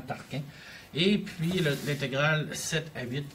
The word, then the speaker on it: Tarquin: elle parce que l'on je le prononce comme tolkien comme sa taxe carbone mais c'est vraiment tarquin et puis l'intégrale cette